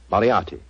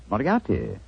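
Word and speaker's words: Moriarty: I'm afraid I'll have to begin calling it the way it looks. M O R I A R T Y. Mariati. Moriati.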